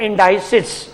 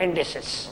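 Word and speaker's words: indices: Third वाला हमारा part होता है जी, इसको काफी लोग प्रोनाउंस करते हैं इंडाइसिस और काफी लोग प्रोनाउंस करते हैं इंडिसेस, क्योंकि हमारे यहाँ 2 तरह की लैंग्वेज चलती है, ब्रिटिश इंग्लिश, अमेरिकन इंग्लिश, तो हर एक की प्रोनाउंसिएशन अलग अलग होती है।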